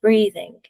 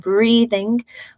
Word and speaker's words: breathing: call between bleeding and breathing. Now, there are pronunciation differences, but a key one is the difference between the L at the beginning, where the tongue goes up, and breathing, where the tongue is down at the beginning.